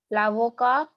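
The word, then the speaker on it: avocat: La avocado. T silent. Lavoca.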